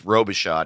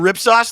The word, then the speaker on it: Robichaud: about a lot because his name is robishot and it's spelled r-o-b-i-c-h-a-u-d and he has a story where a telemarketer called him and was like yeah hey is mr rip sauce there oh god rip